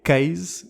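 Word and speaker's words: CAIS: da Century for safet que se pronuncia Case no caso do acrônimo estava baseada em São Francisco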